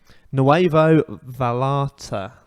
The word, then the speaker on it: Nuevo Vallarta: Nuevo Vallarta. That's how you pronounce it.